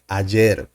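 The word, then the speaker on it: ayer: in in Spanish uh there is some kind of a misconception with this pronunciation because the why in Spanish sounds like a J in English the sound is like the J sound Ajer yesterday um we have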